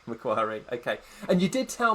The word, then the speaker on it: Macquarie: pronounce the next word, Macquarie Business School. Have I said that correctly? Almost, Michael. Macquarie. Macquarie, okay.